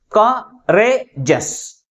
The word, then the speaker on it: courageous: But which syllable is pronounced with a greater force? That is second syllable pronounced with a greater force comparing with other syllables. And also this word ends with EOUS. That's why the primary stress is on the second syllable. How we articulate this word? Courageous. Courageous.